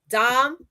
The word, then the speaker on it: Dominica: For Dominica, right? Dominica. Okay? Just to clear that up, because there's a lot of people out here mispronouncing the name.